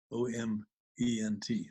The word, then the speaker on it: oment: Each moment is actually an oment, O-M-E-N-T, oment, using the word om or the mantric syllable om, which is a syllable that helps us perceive the interconnectedness of all form.